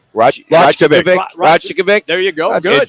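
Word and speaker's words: Rajaković: Rajakovic. Rajakovic.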